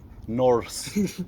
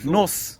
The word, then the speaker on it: Norse: Why don't you say the R? Norse. Norse. Norse. I am. Nos.